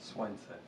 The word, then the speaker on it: Słońce: The sun has different, how do you say the sun in Polish? Słońce.